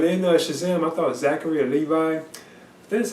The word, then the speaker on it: Levi: But in Shazam, I thought Zachary Levi, that's how you pronounce his last name.